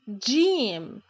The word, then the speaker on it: ج: This is Jim. Jim. J, J, Jim. Jim is the counterpart of the English letter G in job, as in job, Jim, job, the same.